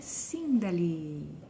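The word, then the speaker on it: Síndali: O meu nome é Sindali. Sim, desse jeitinho que se escreve, desse jeitinho que se fala, tem um acento agudo no primeiro i.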